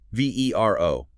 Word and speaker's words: VeRO: V E R O, pronounced VeRO.